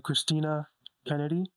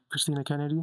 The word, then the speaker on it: Christina Kennedy: As you already know from the intro, I am joined by Christina Kennedy. Am I saying it right? Yeah. Christina Kennedy.